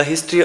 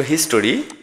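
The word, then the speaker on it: history: এরপরে দেখো হিস্টোরি, হিস্টোরি মানে ইতিহাস, এটা উচ্চারণ হবে হিস্ট্রি।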